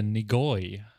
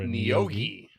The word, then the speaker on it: Neogi: We are going to be going on a meander through the Neogi, I think is how that's pronounced. No, or Neogi. Neogi. Neogi. You put the O in the wrong spot.